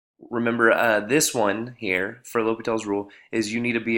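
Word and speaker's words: L'Hôpital's rule: That is pronounced L'Hopital's Rule, not El Hospital, okay? There's no S in there.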